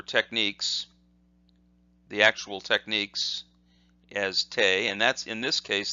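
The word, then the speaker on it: て: The next kanji we look at, or the next hiragana we look at, is this, and that says te, T-E, te.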